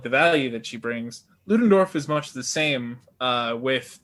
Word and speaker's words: Ludendorff: Is it Ludendorff? Am I pronouncing correctly? Ludendorff, yeah.